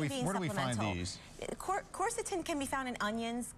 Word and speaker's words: quercetin: And also quercetin, am I pronouncing that correctly? Quercetin. Okay.